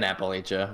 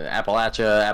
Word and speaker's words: Appalachia: million different pronunciations within appalachia that's how to pronounce it appalachia appalachia probably doesn't really matter